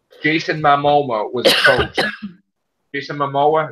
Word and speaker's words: Momoa: Jason Momoa, is that how you say his name? Momoa, yeah.